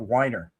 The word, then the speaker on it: Weiner: They used to call him Wiener instead of Weiner.